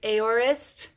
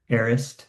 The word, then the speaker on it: Aorist: I always say it's Aorist. Arist. Arist. Yeah, it's like the worst name ever because you can't pronounce it the way it's spelled.